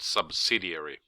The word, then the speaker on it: subsidiary: we call it acquisition please pay attention how you pronounce the word subsidiary it's not a diary its subsidiary turnover can also be